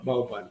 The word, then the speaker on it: bao bun: it pronounced bao bun? Baoban, Bao bun. Baoban, yeah.